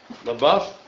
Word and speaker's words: LaBeouf: LaBeouf, that's how you pronounce it.